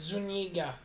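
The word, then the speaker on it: Zúñiga: It's the Enye that fucks me up. It's Zuniga. Yeah, something like that. Is it because that's an Enye, not an umlaut, right?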